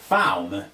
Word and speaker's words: Phaum: Phaum, P-H-A-U-M. Okay, I can work with that. That's actually pretty easy. That's actually pretty easy to pronounce.